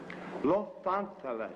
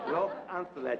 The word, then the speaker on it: Los Angeles: Some people call it Los Angeles, and some people call it Los Angeles. I personally prefer the pure Castilian Spanish pronunciation. Los Angeles. Los Angeles.